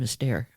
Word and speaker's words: Esther: Yeah, she pronounces her first name Esther.